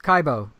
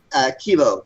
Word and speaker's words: Kibo: And Chuck, obviously you're with Kaibo, right? Kibo. Kibo. I'm so sorry, I said it wrong.